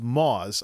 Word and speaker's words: Muaz: We're having this conversation because of a little Twitter doohickey from Muaz. It's actually pronounced Moz.